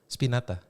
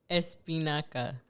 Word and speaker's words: espinaca: Spinata. Kind of close. It's not spinata? Spinato. What is it? Espinaca.